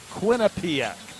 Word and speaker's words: Quinnipiac: Not Quinnipiac, Quinnipiac. The emphasis on the first two syllables.